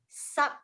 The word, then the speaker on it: subtraction: Subtraction. Okay. Remember, the T does not sound as T anymore. It becomes the sh. So it's subtraction.